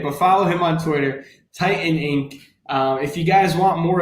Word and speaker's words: Tytaninc: Am I saying it right? Titanic? Titan Inc., but close enough.